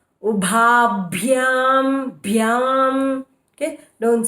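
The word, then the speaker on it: उभाभ्याम्: Ubha, okay, bha should be with emphasis. Ubhabhyam bhyam, okay, don't say ubhabhyam.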